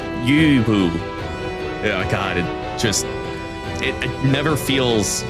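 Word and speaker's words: Lü Bu: don't even try, because the way that you're supposed to pronounce the first U is like the back of your throat is making the E sound and your lips is making the U sound, so it's like Yu Bu.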